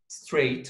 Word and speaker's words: straight: Straight. Okay, number three now. Straight طبعا عندنا كلمة straight. برضو silent GH. GH برضو ما ينطقوا في الكلمة هنا.